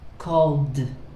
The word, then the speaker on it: called: So when you have ed, the sound is d, loved. Let's do the group again. Loved, called, studied, changed, and showed, right?